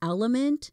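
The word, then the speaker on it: LMNT: That's Element, and it's spelled L-M-N-T.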